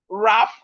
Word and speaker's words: wrap: So we can see simple rule here that whenever you see W and R at the beginning of word, the W is silent.